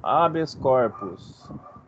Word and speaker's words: habeas corpus: compartimento O que é habeas corpus se pronuncia assim mesmo habeas corpus que seria um habeas